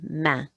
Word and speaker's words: main: The word for a hand is une, feminine, une, and it's and that A-I-N, which was probably new letter string for you, and it makes the angry goose, so it's une main, une main.